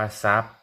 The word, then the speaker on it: ทรัพย์: ถอด อาหาร รอ เรือ เป็น คำ ควบ กล้ำ ไม่ แท้ อ่าน ว่า ทรัพย์ เหมือน ทรุด เลย เหมือน ซูม เลย อัน นี้ อ่าน ว่า